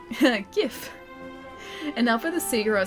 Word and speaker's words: GIF: It's actually pronounced GIF.